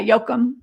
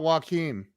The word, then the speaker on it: Jokum: they do, but yeah, Jokum. It's not Joachim. No, it's Jokum. He may go by Joachim for American's sake, but it's Jokum.